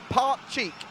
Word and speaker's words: Pakcik: he says he's Tommy pronounce it like this part cheek part cheek yeah out of here see a he's read it down alright Mohammed to you part cheek so it's part cheek pot chick legend thank you Mohammed